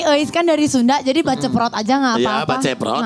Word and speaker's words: Baceprot: Gimana bacanya? Baceprot, voice of baceprot.